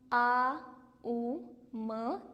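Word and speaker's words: ॐ: But actually it इज़ ए, यू एंड एम। ओम चटिंग। सो जब भी हम चैंट करेंगे हम आ, उ, म तीनों का उच्चारण करेंगे। एक लंबे स्वर में आई एम नॉट ओम ओम इस तरह नहीं वी हैव टू डू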